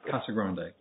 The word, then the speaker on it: Casagrande: Where I come from, that's pronounced Casagrande. Which do you prefer? Casagrande.